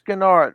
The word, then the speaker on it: Gennard: Gennard, BrickTsar, you are the first person to pronounce my surname with a soft G for the first time in at least 10 years.